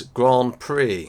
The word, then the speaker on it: Grand Prix: Easily mispronounced, but it is Grand Prix.